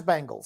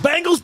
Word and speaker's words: Bengals: not focus on it drives me crazy when you cannot pronounce Bengals it's Bengals damn it it's Bengals Bangles Bangles Bangles grumpy Grace Almighty should